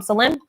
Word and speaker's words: Salim: Our son's name is Salim, Salem. His name is Michael Salim. So Salim means peace. It's like Jerusalem. But we just call him Salim.